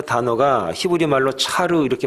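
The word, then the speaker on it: צר: 여러분 곤란 이라고 하는 그 단어가 히브리 말로 차로 이렇게 발음을 하는데 몸 짝 달싹 못하는 작은 공간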